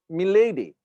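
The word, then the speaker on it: Melady: me lady m e l a d y pronounced milady dr milady yes milady and he's so hyper it was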